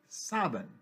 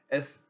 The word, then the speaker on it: Samhain: city used to be called Samhain, spelled Samhain, pronounced Sabin in Manx Gaelic, Saven.